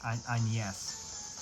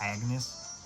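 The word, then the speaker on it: Agnès: It's French, so it's Agnes, even though it looks like it's Agnes.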